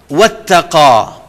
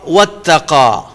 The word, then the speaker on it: وَاتَّقَى: فَأَمَّا مَنْ أَعْطَى وَاتَّقَى، فَأَمَّا مَنْ أَعْطَى وَاتَّقَى. اعطا عین اور تا کو انڈر لائن کریں گے، اور یہاں پر واتقى قاف کو انڈر لائن کریں گے، اور ان کا ہم نے تلفظ درست کرنا ہے.